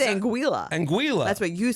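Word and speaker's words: Anguilla: to pronounce it and he said it's anguila like vanilla so I I feel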